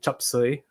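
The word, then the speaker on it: 雜碎: Um and so in Cantonese, it's pronounced like chupsuy.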